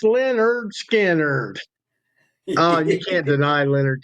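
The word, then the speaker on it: Lynyrd Skynyrd: Oh, my southern buddies, my uh Leonard pronounced Leonard Skannard.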